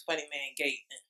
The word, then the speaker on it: Funnyman Gaitlin: I'm Funny Man Gaitlin. Go follow me on Instagram, Facebook, and Twitter. Okay, so I mispronounced it. It's Funny Man Gaitlin.